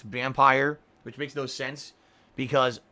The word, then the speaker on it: Vampyr: I think it sounds cooler as Vampyr, but apparently the game developers have been saying it's vampire, which makes no sense because Pyr is pronounced peer.